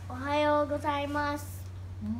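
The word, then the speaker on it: おはようございます: in Japanese how do you say it properly ohayo gozaimasu that's really cool but else did you do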